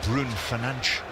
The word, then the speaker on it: Bruno Fernandes: But well played as well by Mount with his pass through for Bruno Fernandes. Or Brun Fernandes, as he calls him when they show us the correct pronunciations.